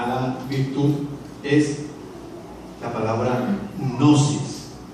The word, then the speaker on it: gnosis: La virtud, el tipo de conocimiento que hay que añadirle a la virtud es la palabra gnosis, con G al principio, pero no la puedo pronunciar. Gnosis, ¿verdad?